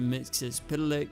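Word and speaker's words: Mxyzptlk: to the Imp from The Fifth Dimension Mr mixis pck that's how you pronounce it this diminutive fellow is actually an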